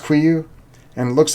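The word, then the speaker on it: KUIU: Yes, it's pronounced Quiyu.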